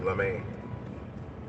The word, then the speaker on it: Lemay: That's more the French way to pronounce it, LeMay.